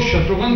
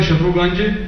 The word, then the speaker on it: शत्रुघ्न: दोस्त हैं पंजाब के वो तो शत्रुघ्न बोलने के बावजूद भी ठीक से नहीं भिन्नभिन्न तरीके से नाम का उच्चारण करते हैं। वो कहते हैं की आर है शत्रुगंज जैसे पहाड़गंज दरियागंज की है